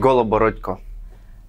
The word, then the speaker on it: Goloborodko: your last name oh it's a tricky one goco one more time ah well I I said